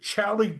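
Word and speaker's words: Xali: Now I say it like a Mexican because that's how Mexicans say their name. It's actually spelled Excuse me. X A L I and that's also their stock symbol.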